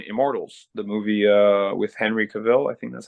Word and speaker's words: Cavill: first job on Immortals, the movie with Henry Cavill. I think that's how he Yep.